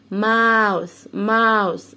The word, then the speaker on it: mouth: هنا بيزي بي بتقول لدينا بتديها اوردر امر، بتقول لها touch المسي your mouth الفم بتاعك. قلنا الاو واليو بنطقها او يبقى ماو، والتي اتش السه mouth touch your mouth المسي الماوس بتاعك اللي هو الفم اللي بناكل منه.